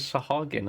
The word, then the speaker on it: Sahagin: Oh, it is Sahagin as well. Good, good. I'm glad when my pronunciations have been correct.